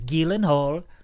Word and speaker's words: Gyllenhaal: it's it's actual the way you're supposed to pronounce his name is gilen hle cuz it's like is the other the actress